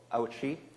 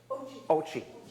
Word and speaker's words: Ouchi: Welcome to B4Play for our next production, Burning Mom, by Ouchi. Oh, I didn't say it right. Ouchi.